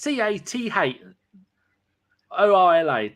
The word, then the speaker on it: Cazorla: Well, if he wants it pronounced properly, then it's CATH. ORLA. Don't put the Z in there. The Z confuses people.